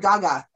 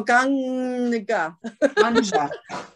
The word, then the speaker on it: Ganga: Is it you Ganga? Said you said Gaga. No, Ganga. It's the Ganges River, but I don't know.